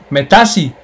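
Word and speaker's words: Medaase: Medase, you know what that means? No clue. I was just saying thank you. Okay, and then how do you pronounce it? Metasi.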